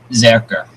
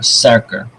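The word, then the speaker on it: serkr: So the first one is shirt, and it's zerker, or serker, depending on where you are in your pronunciation.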